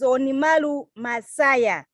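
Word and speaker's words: Onimaru Masaya: So let me pronounce his name correctly. His name is Onimalu Masaya.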